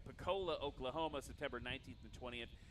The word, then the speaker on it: Pocola: I gotta pronounce that right. Pocola, Oklahoma, September 19th and 20th.